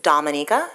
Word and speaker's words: Dominica: my country name is Dominica we are not Dominican Republic so it's pronounced differently um we are about